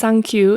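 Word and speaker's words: サンキュー: As a bonus, adding 36 plus 3 makes 39, and since 3 and 9 are pronounced sankyu in Japanese, it's also meant to sound kind of like thank you, expressing thanks to all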